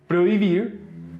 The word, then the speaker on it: prohibir: For instance, vehículo, vehicle, prohibir, prohibit, helicóptero, helicopter. In these words in Spanish, H is silent.